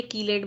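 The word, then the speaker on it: chelate: कोई फर्क नहीं पड़ता, बट हाँ मुझे कीलेट बोलने की आदत है क्योंकि हमें हमारे प्रोफेसर्स ने हमेशा कहा कीलेट बोलो, तो हमने कीलेट बोला। चीलेट भी बोलते तो क्या फर्क पड़ता है, ना स्पेलिंग चेंज होती है ना मतलब चेंज होता है।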